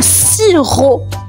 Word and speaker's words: sirop: Le sirop. Un sirop. Et le sirop les amis s'écrit s i r o p. La lettre muette à la fin c'est un p sirop.